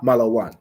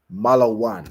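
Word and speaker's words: מלון: my hotel you're saying the so it's a malan where is the hotel okay well done what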